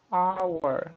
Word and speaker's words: hour: Ou então um H que não é pronunciado, como no exemplo aqui, hour, olha só. O H ele não é pronunciado.